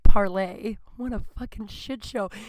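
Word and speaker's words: Parler: It's spelled parlor, but I'm told it's pronounced parlay.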